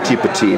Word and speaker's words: Petit: So what you have is people, things, place, and time, which is pronounced petit. Okay, good French one. For small, right?